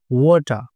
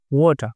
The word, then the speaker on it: water: এটার উচ্চারণ হবে মাডি ওয়াটার এখানে আমরা মনে রাখবো কোন শব্দের শেষে যদি আর থাকে সে আর এর উচ্চারণ আমরা করবো না ওয়াটার ঠিক আছে ওয়াটার মানে